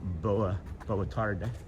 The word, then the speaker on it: boa tarde: And then she also taught me boa tarde.